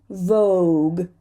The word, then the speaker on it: vogue: And vogue.